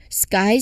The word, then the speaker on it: sky: Here's the S sound leads directly into the K sound. Sky. So just like with a P and T, it is after the K in the cluster which is usually unaspirated. Okay. All right. So it's not CK but a direct sky.